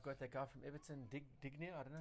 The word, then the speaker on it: Digne: Then I've got that guy from Everton, Dignia. I don't know. how to pronounce it. Look at Dean. Digne.